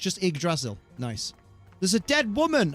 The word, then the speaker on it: Yggdrasil: It's pronounced Ig like iguana. Oh, so it's just Yggdrasil.